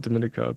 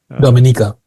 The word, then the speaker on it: Dominica: it's pronounced different Dominica I call it Dominica but it's a Dominica yeah okay so they